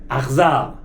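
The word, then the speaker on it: אכזר: Achzar. Achzarim is a cruel. Now the word achzar means only strange. Ach, not with a ches, not brother. No, ach means but.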